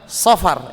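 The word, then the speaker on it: صفر: Jadi yang cara bacanya itu adalah safar ya. Pakai shad bukan sin, bukan safar.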